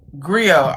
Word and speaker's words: Griot: romance, the creative mind behind the how you pronounce it? Griot. Griot.